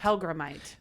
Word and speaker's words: Hellgrammite: Char how do you say it again helite helgramite and what's this is how ridiculous I am